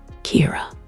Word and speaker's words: Kira: Kira, a Japanese pronunciation of the English word killer.